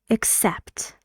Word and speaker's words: except: And this is how we pronounce it. We say except. This yellow part is, of course, the stressed syllable in the word.